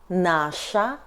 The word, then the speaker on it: наша: Feminine — наша зима .